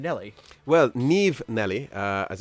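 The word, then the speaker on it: Niamh: do we know about tom legend's opponent uh neim nelly well neve nelly uh as it's pronounced um while it's spelt and i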